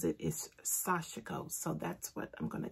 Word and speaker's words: sashiko: time we recorded i said it was i pronounced it chico that's the way i've been pronouncing it for the longest but um carolyn bloom who taught the class she the way she pronounces it is sasha ghost so that's what i'm gonna go with um